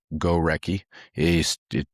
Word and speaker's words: Gorecki: But Andrew Gorecki, just pronounce it.